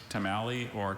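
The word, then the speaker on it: tomalley: The word is tamalei. This is the liver of the lobster. Tamali or tamalei or tamalei.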